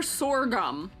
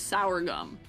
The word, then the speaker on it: sorghum: I know, for some reason, my brain was like, sour, my brain went for sorghum for some reason instead, which is not pronounced as sour gum. Sorghum. That's what my brain reached to for pronunciation, unfortunately.